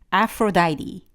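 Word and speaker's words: Aphrodite: 미의 신, 여신, 아프로다이티, 아프로디테라고 부르시기도 하잖아요. 아프로다이티가 맞는 발음이고요.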